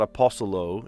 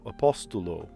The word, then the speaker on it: apóstolo: Apostle in English does not have a T sound, but in Portuguese, the other language I speak, apóstolo, yes, you do pronounce the T sound. It's not apostolo, it's apóstolo. So it does have a T sound.